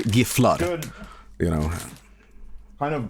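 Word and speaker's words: Gifflar: I do the American pronunciations because I don't want to switch on the fly, but it's really Giflar.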